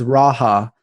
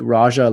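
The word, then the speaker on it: rajah: So he's like giving me the pronunciations, and then he's like, it's Raha, not like Raja, like Raja Bell, who's a basketball player, but it's pronounced Raha apparently.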